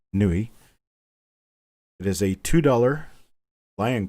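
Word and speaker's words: Niue: 2020 brand new coin from nuit is pronounced nuit it is a $2.00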